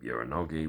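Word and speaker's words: Uranage: Uranogi we get in this match. And yes, I did pronounce it right.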